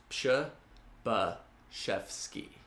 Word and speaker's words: Przybyszewski: My name is Przybyszewski. Last name is Polish and pronounced Przybyszewski.